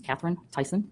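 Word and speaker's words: Catherine Theisen: My name is Katherine Tyson. Katherine is spelled with a C and Tyson is spelled T H E I S E N.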